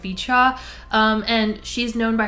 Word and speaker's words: VCHA: I was going to pronounce it VCHA, but I heard someone else pronounce it Vichchaw, so I guess I'll just go with Vicha.